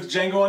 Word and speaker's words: Django: Today we're reviewing Django Unchained, the D is silent.